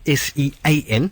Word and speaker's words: Sean: And your Facebook page, that's Sean, it's spelled S-E-A-N. Sean, like Sean Connery, S-E-A-N, and A-C-H-I-L-L-E-O-S.